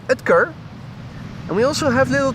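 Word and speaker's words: Oetker: er and allegedly it's supposed to be pronounced Dr. Edkar.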